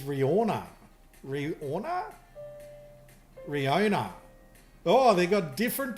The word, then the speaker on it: Rihanna: So Skydelize says Riona. Riona. Oh, they got different pronunciations here. So Skydelize says Riona. Gutcha says Riona. And neither of them are pronouncing the H. Thank you very much. H is silent.